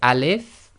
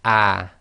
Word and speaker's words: Aleph: Aleph now this is pronounced as Aleph and not as ah okay and when you